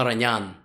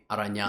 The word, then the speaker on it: Aronian: Wanted me to say Levon Aranyan, because you're not supposed to say the I. It's like you use the I and the A, Aranyan. Yes. Yeah, and the emphasis on the last syllable in Armenian surnames.